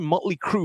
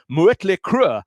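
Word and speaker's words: Mötley Crüe: looks cool first time motley crew went to germany on a tour the audience were all shouting mueller crew merit crew because that's how you pronounce these letters with all that and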